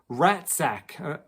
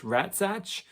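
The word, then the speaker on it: רצח: So the word that's used, it's a Hebrew word, and I'm not lying, this is what it's pronounced as ratzach, R-A-T-S-A-C-H, ratzach, something like that.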